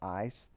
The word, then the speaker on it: eis: For instance, the Greek word is ace, or sometimes pronounced ice.